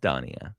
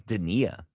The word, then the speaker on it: Denia: Is it Da? It is not Da. Okay. It is Denia. Denia.